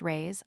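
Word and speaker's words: reis: The Portuguese pennies or rise pronounced rays are prodigious.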